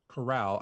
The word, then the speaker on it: Corral: matt carr if matt corral i always say is the last name wrong i was that's why i say matt golden corral that's how i remember to say his name correctly if he's half as